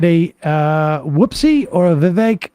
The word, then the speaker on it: Vivek: uh whoopsie or a Vivek rhymes with the cake see you up on